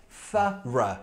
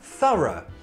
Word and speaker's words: thorough: So in this case, it sounds like ah, thorough, thorough.